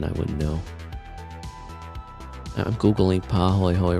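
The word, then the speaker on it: pāhoehoe: often foaming lava tubes, and is a Hawaiian word.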